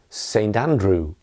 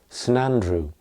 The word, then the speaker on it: Saint Andrew: uh one more example maybe Saint Andrew that's the full uh pronunciation Saint Andrew but you will hear people talk of sinandru San Andrew that saint has first of all become sun and then even some sin Andrew in careful speech obviously